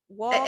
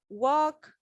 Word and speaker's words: walk: You don't pronounce the L, it's silent. Walk, L.